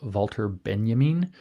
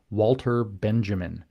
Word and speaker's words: Walter Benjamin: probably most uh influential very early on was wter Benjamin which you would spell as an English-speaking person Walter Benjamin but it's not pronounced that way and uh Benjamin was in